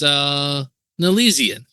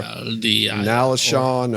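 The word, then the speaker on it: Nalesean: At number 56, it's Nalesian. Okay, or Nalashon, or however you want to say his name.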